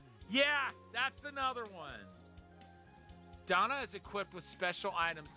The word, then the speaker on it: Dana: It it's uh it's going to take a lot of getting used to um pronouncing her name as Donna instead of Dana.